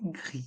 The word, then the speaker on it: gris: Et dans le mot gris, le S est muet. Rouge et gris.